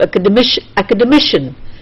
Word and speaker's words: academician: The K part is stressed, then you have academic, the D part is stressed, then you have academician, the mission part is stressed.